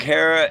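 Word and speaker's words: Herer: Hey, and if any of y'all not know what I'm talking about, Jack Hera, H E R E R, uh, rhymes with Terra.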